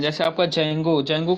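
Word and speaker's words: Django: हाँ हाँ, जेंगो वही है, डी जेंगो, मतलब डी को साइलेंट कर दिया, जेंगो उसको बोलते हैं, या डी जेंगो भी आप बोल सकते हो, तो बेसिकली इसको जेंगो बोलते हैं, ठीक है।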